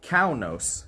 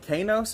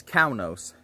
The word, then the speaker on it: Kaunos: pronunciation was and he told us uh to pronounce it cao nos so i believe i was pronouncing it cainos or something earlier but uh according to him it is kaunos that we are at here so look let's